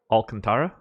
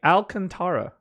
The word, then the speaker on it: Alcantara: pronunciation okay um so it's contrib like like the iran-contra thing and then you just say howl in front of it yeah I'm not